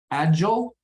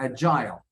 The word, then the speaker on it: agile: in the first way and that reason is is a little thing called stress all right so our